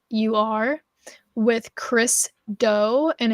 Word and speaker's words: Do: It is called The Future, and that is spelled Futur with Chris Doe, and it's Doe is Do.